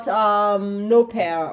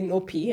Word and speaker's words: Nopea: It's probably short Nopea, or I used to say Nopea until before. Nopeing. Nopea. In Kenya, we're pronouncing it like they're Kenyan.